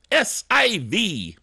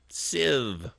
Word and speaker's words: SIV: week this week is s IV Civ I'm just pronouncing it that way to be silly it's actually SIV system information viewer now this is one